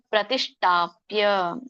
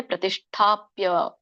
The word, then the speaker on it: ಪ್ರತಿಷ್ಠಾಪ್ಯ: ನಾತಿನೀಚಂ ಶೈಲಾಜಿನ ಕುಶೋತ್ತರಂ ಶುಚೌ ಉಚ್ಚಾರ ನೋಡಿ ಶುಚೌ ದೇಶೆ ಪ್ರತಿಷ್ಠಾಪ್ಯ ದೊಡ್ಡ ಶೋ ಕೆ ದೊಡ್ಡ ಠ ಇದೆ ಪ್ರತಿಷ್ಠಾಪ್ಯ ಒತ್ತಿ ಹೇಳ್ಬೇಕು ಷ್ಟ ಸ್ಥಿರ ಮಾಸನ ಮಾತ್ಮನಹ ಅಂತ